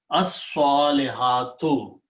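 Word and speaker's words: الصَّالِحَاتُ: And when you pronounce, swad is a shamsi letter, so you don't pronounce lam. As, so pronounce this twice. As-salihatu.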